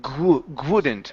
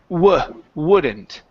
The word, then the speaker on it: wouldn't: instead of wouldn't okay take off that g sound at the beginning the word isn't but they wouldn't stay on but but they wouldn't stay on okay right now you're saying good pronounce an ooh sound at the beginning so it's uh W wouldn't wouldn't wouldn't good but they